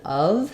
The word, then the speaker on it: of: of the of so the letter F in of says the V sound it sounds like of so if you're saying